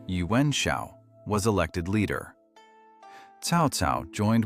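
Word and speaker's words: Yuan Shao: Yuen Shiao, pronounced Yuen Shiao, was elected leader.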